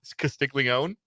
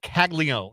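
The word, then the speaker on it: Caglianone: his name is not castig Leone what what is it kagon kagon I'm sorry yes yes uh the there is an a an in the middle of the name that is silent Jack kago is the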